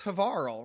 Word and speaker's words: Havarl: I've got the first good, and it is Havarl, rhymes with Carl.